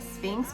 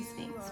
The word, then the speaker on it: PHNX: I call it Sphinx, but it's PN. Is it PHNX? I say Sphinx.